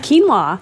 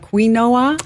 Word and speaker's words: quinoa: Quinoa. Okay. It's not quinoa. No, it is not quinoa.